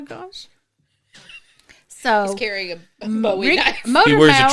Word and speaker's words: Bowie: He's got his Bowie knife, except he pronounces it correctly, Bowie.